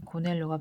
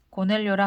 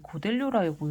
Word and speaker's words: 고넬료: 가이사랴에 고넬료가 베드로를 청하다. 고넬료라 하는 사람이 있으니 이달리아 부데라 하는 군대의 백부장이라. 고넬료. 왜 고델료라고 읽어? 고넬료.